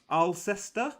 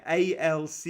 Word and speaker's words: Alcester: Yeah, Alcester. Yeah, Ulster. Ulster, like the rugby team in Northern Ireland. Yeah, I guess you would. Yeah, you would pronounce it like same.